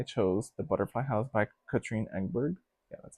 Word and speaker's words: Katrine Engberg: The third prompt was Pick My Own, and I chose The Butterfly House by Katrine Engberg.